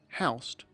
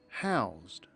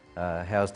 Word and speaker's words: housed: Notice that when the word house is used as a verb it is pronounced howse. The workers weren't housed, they were housed. Listen again: The 50 men were housed in tents.